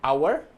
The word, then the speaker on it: hour: Há 4 palavras em que o H inicial não é pronunciado em inglês, ou seja, ele é silent. São essas a seguir. Então nós temos hour, honest, honor e air. Lembra que o H não é pronunciado, ok?